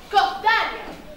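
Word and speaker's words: σκορδαλιά: Et avec la prononciation grecque, scordalia.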